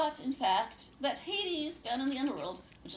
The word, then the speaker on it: Hades: Basically, Hades is the ultimate ladies' man. Well, hey, Hades rhymes with ladies.